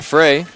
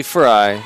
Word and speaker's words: Fry: Emily Fry. I apologize. I've been saying it wrong the whole game.